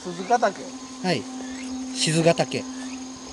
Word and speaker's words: 賤ヶ岳: 99 何の戦いこれね賤ヶ岳と読みます鈴鹿だけはい賤ヶ岳夜はこれ